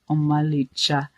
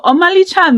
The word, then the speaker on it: Omalicha: So you have to say something like Omalicha. Hey! Enene bejoro. Ha! Ne imaka. That's how to say it.